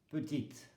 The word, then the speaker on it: petite: Féminin, petite, le E ne se prononce pas.